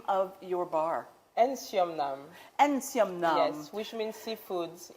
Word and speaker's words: NsoumNam: Please pronounce the name of your bar. NsoumNam.